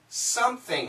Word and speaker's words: something: what's really interesting is the word something is also used as a glottal stop yes something uh how it sounds like this something something